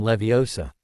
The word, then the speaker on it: Leviosa: Wingardium Leviosa, he shouted, waving his arms around. You're saying it wrong. Hermione finally snapped hotily. It's Wingardium Levi Osa. Make the gar nice and long.